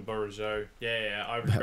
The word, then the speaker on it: Bourigeaud: I call him Bogyard. Oh, I call him Bourigeaud.